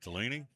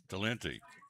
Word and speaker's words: Talenti: Talini? Talenti.